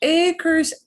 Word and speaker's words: acre: Acres, acre. Acre. That makes better sense. Spelled the same, acre. Okay. Se escribe igual. Se escribe igual que el inglés, pero se pronuncia acre.